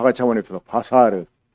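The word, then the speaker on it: בָּשָׂר: 바사르. 다 같이 한번 해봅시다. 바사르.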